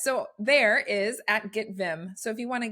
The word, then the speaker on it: Viim: intentional integrated marketing so Vim is felt with two eyes it's very similar to the English word Vim which means enthusiastic high-spirited energetic um but it is spelled with two eyes so make sure you